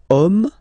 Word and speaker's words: homme: And then here, we've got the word homme, man, okay? But then it starts with H, as in French, H is not pronounced, so the first sound that we hear is O, okay?